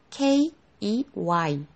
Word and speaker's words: key: 여기 발음 기호에서 끝에 땡땡 하고 나와 있는 거 있죠? 이 땡땡은 길게 읽어주라는 소리예요. 장음이라는 뜻이에요. 키, 이렇게요. 자, 여기 K, E, Y, E가 이 소리가 나죠?